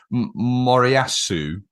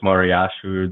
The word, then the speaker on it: Moriyasu: Um is it Moriyasu? Um that's to excuse some of my pronunciation. No, no, how do you how do you say Moriyasu?